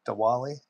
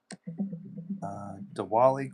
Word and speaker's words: Diwali: Diwali?